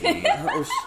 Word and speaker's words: deity: Deity.